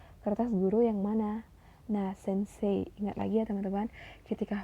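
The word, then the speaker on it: 先生: guru yang mana Nah Sensei ingat lagi ya teman-teman ketika huruf e dan I bertemu maka baca itu e-nya panjang bukan Sensei tapi sense koeng koeng wadeska Taman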